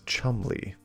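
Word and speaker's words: Cholmondeley: I didn't think there would be an M in there, but there is. Chumley. And an O is more like a U.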